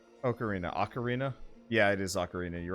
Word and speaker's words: ocarina: got an ocarina ocarina ocarina yeah it is ocarina you're right I got an ocarina when I